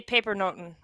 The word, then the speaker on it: pepernoten: Yeah, in Dutch we say pepernoten is how we say it.